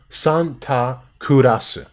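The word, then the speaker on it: サンタクロース: uh syllables and so you'll get like sun to Santa kurasu like that's how they would say Santa Claus there's no like complicated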